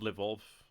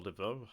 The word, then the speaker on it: Lvov: As hoped, Lvov, or Lvov, however you want to pronounce it, has been abandoned.